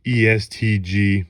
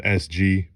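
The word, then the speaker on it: EST Gee: It is pronounced ESTG, not SG, so that's my mistake.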